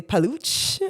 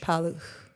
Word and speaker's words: Paluch: A lot of people say paluch which is not right but then I learned just pretend the C is not there and you get it pretty close to how Polar say it. Paloo.